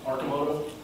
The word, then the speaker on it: Arcimoto: So the I is pronounced as kind of so it's Arcimoto, and it means arc